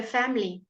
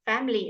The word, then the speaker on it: family: we certainly he said sometimes when we talking the is often shortened to almost nothing alright so family you can hear it's almost not there you can say family fine but if you're talking fast family is fine you can leave out the earth sound memory memory can you